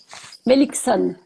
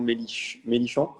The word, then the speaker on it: Meilichzon: Melikson, Ah, c'est de quelle origine?